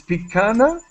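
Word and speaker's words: picanha: Now, I thought it said piranha, but it's not. It's picana.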